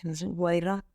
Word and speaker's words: Wadi Rum: Wadi Rum, como se escribe, sin más.